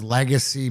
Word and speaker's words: Legasea: So it's Legacy means, and I know it's spelled Legasea, but to me, what Steve